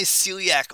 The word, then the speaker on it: celiac: but that is my Celiac artery now my Celiac Celiac three syllables three branches the branches